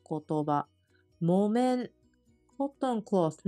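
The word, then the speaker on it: 木綿: 面音読みの言葉モメンコットンクースのことをモメンと言いますこれ木ですがもと読みます気をつけましょうもえ訓読みわたわ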